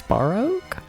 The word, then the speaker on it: Baroque: It's Baroque? There's no third syllable? It's only two?